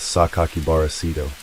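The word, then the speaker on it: 酒鬼薔薇聖斗: Written in the same red ink, it included a 6-character name that can be pronounced as Sakakibara Sito.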